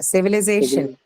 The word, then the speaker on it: civilization: Then we go to the next one, which is civilization. Syllable. Noun and second penultimate syllable. Yes, penultimate, because you have the suffixation.